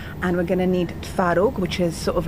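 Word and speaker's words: twaróg: Um I mean sometimes it is spelled with a V in different East European shops but in Polish the V is a W.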